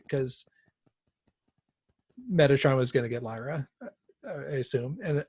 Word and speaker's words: Metatron: Coulter Lord Asriel and the Metatron how do you say that that guy's name Metatron Metatron yeah not Megatron nah Megatron it's not making yes mad I wanted